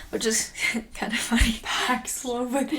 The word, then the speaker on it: Paxlovid: Paxlovid. Like, it rhymes with COVID.